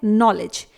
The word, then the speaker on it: knowledge: Last word है नॉलेज, KNOWLEDGE। यहां पर भी G से पहले ही D है तो D साइलेंट रहेगा।